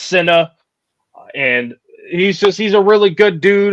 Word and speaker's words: C1nna: His name is is SA like Cinnabon. C I N A. It's C1. C1 N A actually is how you spell it. But it is pronounced SA.